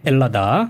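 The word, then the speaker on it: Ελλάδα: 구나 그럼 했네 4 요새는 h 발음 잘 안하구요 엘라 다라고 많이 그럽니다 벨라 달아 그래 잘됐네 헬라 다 벨라 다요 이래서 않죠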